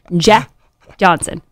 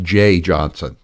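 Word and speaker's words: Jeh Johnson: like to say it Jeff Johnson it's I think it's pronounced Jay that's the way I've always heard it pronounced anyway I Pro I uh I like Jay Johnson I I I believe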